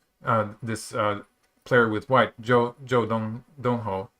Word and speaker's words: Zhou Donghou: uh player with white joe dongho i think that's how his name is pronounced um i'm sort of